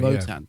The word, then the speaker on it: Wotan: It's the German way, Votan. yeah. Pronounced as a V.